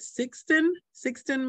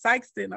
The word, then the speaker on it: Sikeston: The second way I said it, Sikeston.